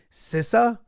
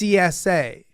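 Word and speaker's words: SZA: have said it right it's like sisa but it's CSA okay I wouldn't even have said sorry CSA not K was okay I didn't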